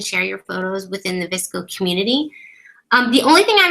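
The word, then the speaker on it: VSCO: Next one, Visco is how you say that.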